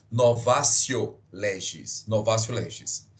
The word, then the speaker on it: novatio: escreve professor novatio tão o em latim o de tem som de c na pronúncia Ok então se escreve novatio legis mas como vocês vão pronunciar novatio legis novatio legis e